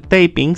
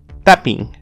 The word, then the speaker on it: tapping: Y de esa forma se altera la pronunciación, ya esto no se pronuncia taping, sino ahora es tapping. Esta doble P existe para remarcarlo.